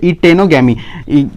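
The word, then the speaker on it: geitonogamy: दोस्तों ऐसा नहीं है, वो जी साइलेंट है इस वर्ड के अंदर। क्या है दोस्तों, साइलेंट है, मतलब इसे हम क्या बोलेंगे इटेनोगामी।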